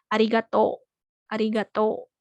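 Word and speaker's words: ありがとう: contoh kalimatnya Arigatou gitu memang tulisannya belakangnya atau u tapi di bacanya panjang arigatou arigatou kayak gitu tadi bagusnya pertanyaannya Terima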